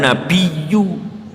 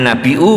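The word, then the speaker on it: النبيّ: " Assalamualaika ayyuhan nabiyu", ada syaddah di situ, bukan sekadar pengucapan biasa. "Ayyuhan nabiyu", oh, ada shaddahnya, bukan "Ayyuhan nabiu", atau apa pun itu, seharusnya dibaca dengan hamzah...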